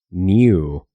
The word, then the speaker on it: knew: Y es que cuando encuentras una palabra que comienza con KN en inglés, como knight, caballero o knee, rodilla, la K se vuelve muda y no se pronuncia en absoluto.